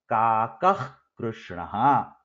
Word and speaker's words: काकः कृष्णः: This sound that comes between kaka and krishna, it is similar to a visarga, but it is not a visarga. It is called as jivhamuliya. It is pronounced using the back of the tongue.